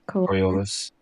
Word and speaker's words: Coriolis: Coriolis.